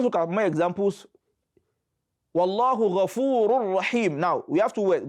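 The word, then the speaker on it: غفور رحيم: So how do you pronounce Wallahu Ghafurur Rahim? You don't say Wallahu Ghafurun Rahim. No, that is idhar. You say Wallahu Ghafurur Rahim, Ghafurur, and don't roll it too much. Don't roll the Ra.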